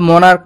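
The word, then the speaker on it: monarch: লেখা হয়েছে তারপর আছে মনার্ক মনার্কস এখানে মনার্ক শব্দটির শেষে সিএইচ রয়েছে কিন্তু সিএইচ এর উচ্চারণ চ না হয়ে ক এর মতো হয়েছে তাই ই এস যোগ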